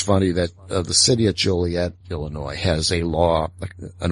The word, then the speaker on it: Joliet: Everyone kept calling it Juliet, and they put a law on the book saying, no, the proper pronunciation is Joliet.